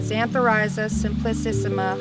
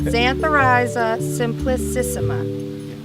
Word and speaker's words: Xanthorhiza simplicissima: We're in here amongst the woods and trees here for a Xanthorrhiza simplicissima harvest, also known commonly as yellow root.